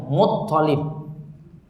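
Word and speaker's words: المطلب: Kalau di sini ini bukan L-nya yang double namun to-nya ya, Muttalib.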